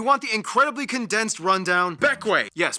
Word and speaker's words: Bequia: but if you want the incredibly condensed rundown, Bequia. Yes, pronounced Bequia.